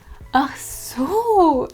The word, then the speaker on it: ach so: Phrase number 9 is ach so, and this is the exact way how you should pronounce it. Ach so, so with this long so.